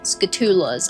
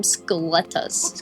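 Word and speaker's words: Skulltula: They're called skatulas. I was calling calling them calling them scalletas. Scalletas. I was getting it kind of backward like the T and the L were like flipping for some reason when I read it.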